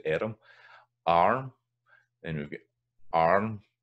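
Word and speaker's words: airm: So we've got erm in Scots, we're erm here. Arm in English. So erm, that's one of the ones that's kind of two syllables, erm.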